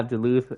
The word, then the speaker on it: Duluth: Associated with the city of Duluth. Yeah, Duluth, Atlanta area.